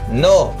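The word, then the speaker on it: know: पहला silent letter के है, इसके एग्जाम्पल नो।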